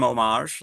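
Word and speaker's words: hommage: h like the French like it comes from omage like they would say omage without the H so uh you know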